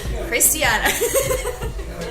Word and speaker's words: Khrystyana: Christiana.